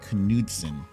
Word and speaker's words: Knudsen: Just recently learned that is the correct pronunciation of his last name, Nick Knudsen, was supposed to be our guest today.